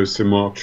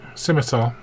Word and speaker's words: scimitar: There's another one of those foreign swords I can't pronounce. Katana. No, Simarcha or whatever it is. Scimitar.